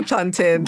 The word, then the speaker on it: plantain: Is it plantain or is it plantin? It's definitely plantin.